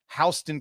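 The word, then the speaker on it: Houston: There is a HU S and it's pronounced Hston County. I crap you not, my friend.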